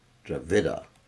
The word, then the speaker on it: Dravida: India dvida provinces okay make sure I pronounce that right dravida not dvaa the Lord visited yeah